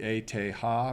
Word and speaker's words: ETH: want to sound cosmopolitan you can call it the ete ha because apparently that's how you say it if you speak german um in any case